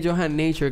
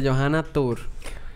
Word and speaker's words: Yohan Nature: Tú sabes que es Yohan Nature que se pronuncia. Uh-huh. Pero cuando yo doy los tours del barrio chino, la gente me dice Johanna Tour.